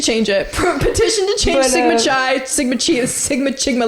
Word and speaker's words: Sigma Chi: I found out Sigma Chi. Sigma Chi? Not Chai. Chai. It's like I thought it was like pronounced as like phi, is pronounced as phi.